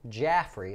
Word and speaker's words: Jaffray: the stock was upgraded by Piper Jaffray Jaffrey is how you say it it's a well-known